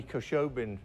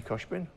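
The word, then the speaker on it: Khoshbin: In fact, I used it in the Manny Koshobin video. Do you remember? Who? Ah, ja. Manny Koshbin?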